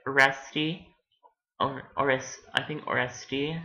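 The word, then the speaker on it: Oreste: or or I think oresti that's how you pronounce it um cuz it's French um there was um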